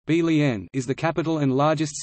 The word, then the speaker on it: Berlin: Berlin, German pronunciation, Berlin, is the capital and largest city of Germany by both area and population.